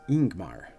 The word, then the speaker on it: Yngmar: And finally, YNGMAR is pronounced Ingmar, leading with a vowel sound.